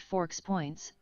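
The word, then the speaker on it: FoXpoints: Force points scoring, a 100 point system, pronounced forks points, formatted as force points with specific capitalization, capital F, lowercase O, capital X, lowercase P, O, I, N, T, S.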